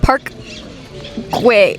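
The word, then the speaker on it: Park Güell: We're at Park Guay Guay. Park Guay. That's how you pronounce that.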